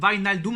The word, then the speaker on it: Wijnaldum: Wijnaldum, apparemment, c'est comme ça qu'on prononce Wijnaldum.